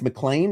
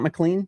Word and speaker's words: McLean: It's McLean. It's not McLean.